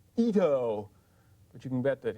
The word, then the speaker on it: Ito: Shisato Itoi? Ito. そうです。Ito です。Another problem name in English. If you spell it this way or this way, Americans are going to say Itu.